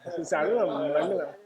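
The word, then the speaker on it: सर्वमङ्गलम्: You have to say it like this. Sarva Mangalam. This is Sanskrit.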